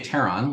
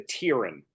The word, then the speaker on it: Taron: I say Taron, like there's a tear on your shirt, and then most of my friends say it like your name. They say Taron. But you never get the Tyrion. Because No, I sometimes have it's the gotten. Tyrone a couple times.